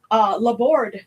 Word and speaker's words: Laborde: Laborde, the E is silent because it's French.